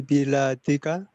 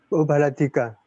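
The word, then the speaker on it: بلدك: Bukan bacanya bilat itu. Apa namanya? Bacanya apa Biladika. yang benar? Kam jami'atan fi biladika. Kok bilat lagi? Bila, Baladun. Baladika. Ya. Ya, Pak. Kam jami'atan fi baladika. Nah, Berapa kampus di negaramu?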